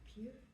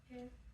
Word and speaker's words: pair: Oui? Peer. Very close. Very close. Pear. Pear. Good.